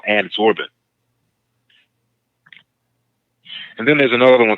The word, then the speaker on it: adsorbent: And I mentioned the word adsorbent, ADSORBENT. It sounds like absorbent, which is spelled the opposite way, ABSORBENT.